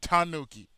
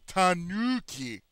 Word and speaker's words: tanuki: k i like yeah Tanuki not Tanuki it's Tanuki tan well you know certain